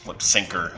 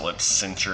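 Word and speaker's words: Lipsyncher: scandalous so lip centers lip syncer sorry i always pronounced it lip cincher as a kid and now it's still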